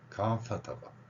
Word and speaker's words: comfortable: 표시는 경우가 있다 그랬습니다 그러니까 앞부분을 강하게 합니다 for comfor이 이게 어려운 한국 발언입니다 발음을 해야 되니까 comfor comfortable 혹은 컴포터블 이렇게요 자 여기에 퍼 발음